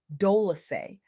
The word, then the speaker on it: Dolce: I'm your host, Dolce, pronounced Doly, like sweet softness whispered in French.